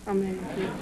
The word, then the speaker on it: Medici: Medici. M-E-D-I-C-I. Pronounced Medici.